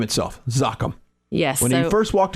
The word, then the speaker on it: Zoccam: do a whole marketing campaign around the just pronouncing the name because we get zouk am it sounds like a medical right it is ok I'm yep good for your allergies exactly exactly so zakhm comes from Occam's razor which is a scientific